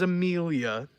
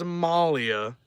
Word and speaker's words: Amelia: Amelia, her name is Amelia. You may read it as Amalia. It's not how it's pronounced. Her name is Amelia.